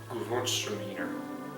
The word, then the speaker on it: Gewürztraminer: This would pair very well with the German Gewürztraminer.